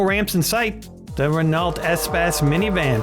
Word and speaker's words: Espace: The Renault Espass minivan. Previously, I was pronouncing this Espace, which I prefer, but what are you going to do?